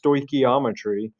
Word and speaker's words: stoichiometry: before, if you hear this word right here, stoichiometry, and that's how it's pronounced, stoichiometry, they might slide into cold sweats and have night terrors and all kinds of stuff like that.